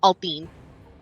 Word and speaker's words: Althene: I always like to say it's kind of like Athena, so it's just Althene.